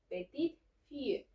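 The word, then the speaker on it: petite-fille: Y en este caso, para nieta, va a decir petite fille. Aquí sí vamos a pronunciar la T de petit, pero aquí ya no.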